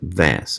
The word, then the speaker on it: Hvas: build h fast but it's pronounced vas apparently the word comes from the old Nordic languages Viking in the lake